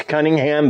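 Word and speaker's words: Conyngham: so you know fairly together guy from there he met and married Catherine cleaningham and I guess it's Cunningham but it's it's spelled a little different it's c-o-n-y-n-g-h-a-n the daughter of General Sir Albert Cunningham in 1694.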